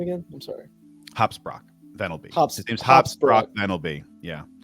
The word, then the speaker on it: Hopsprock Venelby: Hopsprock Venelby. His name's Hopsprock Venelby. Yeah. I said Hopsprocket. His name's Hopsprock Venelby.